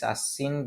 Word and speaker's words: Ashin: And I am also calling this Ashin because I am Bengali and I'm gonna do a Bengali pronunciation.